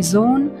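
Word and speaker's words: Sohn: مانند کلمه دزون دزون در کلمه زون حرف او طویل تلفظ می‌شود و حرفها خاموش است.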